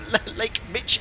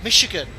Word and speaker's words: Michigan: I don't want to say Lake Mitch again. Is that how it's pronounced? Or Michigan? Oh no. Minimums. Approaching minimums. It's sh, not ch. Lake Michigan.